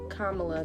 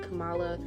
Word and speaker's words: Kamala: And to backtrack to the Amber Ruffin clip, when the guy is messing up, I think her full actual pronunciation is Kamala, not Kamala, which is, again, I want to make sure moving forward that I get that correct.